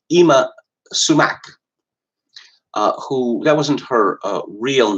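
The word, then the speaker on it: Yma Sumac: last night was something by a woman called Ima Sumac, who, that wasn't her real name. I guess it's spelled Y-M-A.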